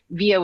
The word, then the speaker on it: Vija: It's pronounced VIA, but it's spelled V as in Victor, IJA. So VIja, you can just